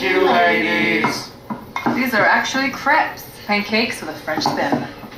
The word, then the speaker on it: crepe: Sex, lies, and video crepe. Sadako and the Thousand Paper Crepes. Great book. It's actually pronounced crepe.